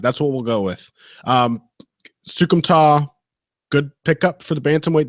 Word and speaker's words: Soukhamthath: be a fucking nightmare if it was actually pronounced THTH. Yeah. They said it that way in CES, so it's Soukhamthath. Yeah. Okay. All right. That's what we'll go with. Soukhamthath, good pickup for the bantamweight division.